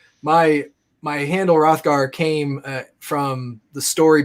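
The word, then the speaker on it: Hrothgar: rothgar and in beowulf rothgar spelt with an h for some reason high school me said i hate the h because it's silent so i took it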